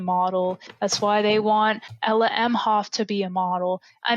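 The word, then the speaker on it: Ella Emhoff: it's not a matter of if but when ella m hoff that's how you say it i forgot about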